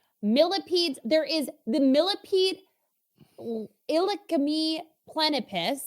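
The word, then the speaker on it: Illacme plenipes: there is the millipede ilicami plenipus and that is verbatim that's how you pronounce it i know it it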